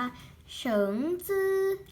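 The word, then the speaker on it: 橙汁: น้ำ ส้ม น้ำ ทำ ภาษา จีน อ่าน ว่า เฉิง ซื้อ เฉิน ซื้อ นะ ขา ไป โดน จะ ไป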